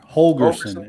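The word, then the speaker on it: Holgorsen: works out for holgerson holgerson is how you say his name yeah yeah it works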